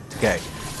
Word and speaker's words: Takei: George Takei or Takai. How do you pronounce his name again? Okay. Takei.